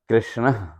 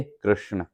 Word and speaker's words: कृष्ण: हाँ, द्रौपदी को पुकारना करना हो तो वो पुकारो, और वहाँ कृष्ण जब संस्कृत में बोलेंगे तो कृष्ण है, और हिंदी में भी कृष्ण, कृष्णा नहीं है, कृष्ण।